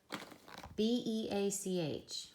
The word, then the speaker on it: beach: B-E-A-C-H. Well, the first vowel's long, the second is silent. B-E-Ch, beach.